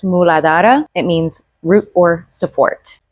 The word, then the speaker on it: Muladhara: In Sanskrit, it's pronounced muladhara.